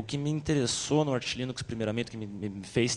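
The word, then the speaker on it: Arch Linux: do do Arte e ele fala arte ar Linux então se ele chama assim eu imagino que seja a pronúncia correta Ah tu pode disponibilizar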